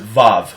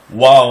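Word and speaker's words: וָו: most people pronounce it Vav, which is incorrect, because in Europe, a lot of European languages don't have the W sound. Wow is a W, not a V.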